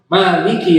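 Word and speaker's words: مالك: Dalam ilmu qiraah, cara bacanya dua. Bisa dibaca Maliki Yaumiddin, bisa dibaca panjang dengan Maliki Yaumiddin.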